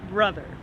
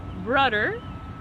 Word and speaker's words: brother: you say big brother there's a /th/ sound in bro/th/er so it's not broder it's brother with a senator do